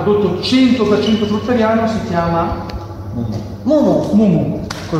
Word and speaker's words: Mumu: Che adesso noi, essendo del giro vegano fruttariano e ecologici fruttariani, il prodotto 100% fruttariano si chiama Mumu, con l'accento sulla U.